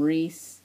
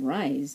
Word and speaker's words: Rhys: how to say his name I call him ree um or I call him rise not Reese but I heard his name is pronounced Rees um I don't know I I